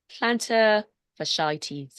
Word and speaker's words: plantar fasciitis: Let's talk about plantar fasciitis, I believe.